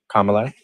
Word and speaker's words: Kamala: likey Kamala sorry I I've been pronouncing her name wrong for the longest time thank you for correcting me Kamala um so this is